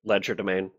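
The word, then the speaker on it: legerdemain: have Focus the leder domain or however you pronounce that it is ledger domain yeah Ledger domain which includes picking blocks so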